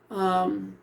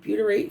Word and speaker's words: butyrate: Butyrate. Butyrate, pronounced BYOO, and that's in italics. So, bu, that's how I'm thinking, because boo, but butyrate.